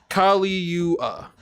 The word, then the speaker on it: Caligula: It's pronounced Caligula.